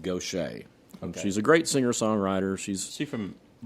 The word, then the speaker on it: Gaucher: Okay, and she pronounces it Gaucher.